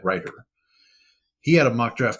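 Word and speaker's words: Reuter: I I believe I've been mispronouncing his name as Chad Rutder, but I believe it's Chad Ryder.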